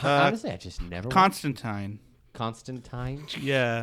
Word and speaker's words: Constantine: His name is Constantine. They actually call it out several times throughout the comics. You know That's that makes fun. sense though because they don't like that E sound.